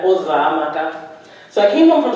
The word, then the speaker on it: Uzoamaka: And I would have teachers or anyone, neighbors, try and say my name, and it would be Azumeka, Uzamaka, Uzakuza, any version that they could think of other than Uzamaka.